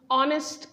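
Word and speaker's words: honest: इसकी प्रोनंसिएशन देखें तो इसे हम लोग नेस्ट नहीं इसे हम ऑनेस्ट कहते हैं ऑनेस्ट प्रोनाउंस करते हैं तो अ साउंड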